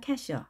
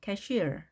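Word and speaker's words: cashier: 보통 하는 말 들어보셨나요 캐시어 하지만 여기에 강세가 있는 것이 아니고 뒤에 있습니다 이렇게 발음을 하셔야 됩니다 cashere can shere 어떤 사람입니다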